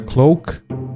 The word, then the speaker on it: cloak: was searching for was clock you can see not a clock a cloak a cloak I think the right pronunciation so the mountain is